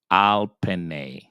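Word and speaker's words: על פני: And you're going to get nay. Penne. So the word is going to be pronounced al penne.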